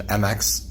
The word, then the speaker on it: Mx: do so for pronunciation MX is pronounced like mix like you're mixing things together so it's mixed seagull